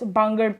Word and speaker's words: Bangar: It is pronounced as bangad, khadad and bangad.